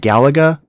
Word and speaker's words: Galaga: I don't know if I said that correctly, but apparently it's pronounced Galaga.